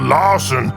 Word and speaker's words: Larson: I'm called Larson because it rhymes with arson.